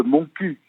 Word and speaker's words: Montcuq: connaissez le village de Montcuq évidemment entendu parler je ne le connais pas mais je voudrais en occitan il faudrait le prononcer manque plus que il faut prononcer toutes les consonnes mais l'étymologie Brigitte de